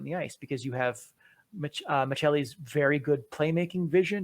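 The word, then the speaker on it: Maccelli: his name is matthias mckelly oh sorry matthias michelle a name that we've had to correct since i heard some interviews with him in finnish and that is how the finnish pronounce it i blame ep ringside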